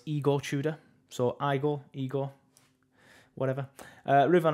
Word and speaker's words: Igor Tudor: Somebody told me I was pronouncing that wrong last time. Apparently it's Igor Tudor.